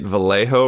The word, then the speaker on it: Vallejo: so did I get Vallejo right is that how you say that I believe you did you got you pronounced the J as an H you're you're right on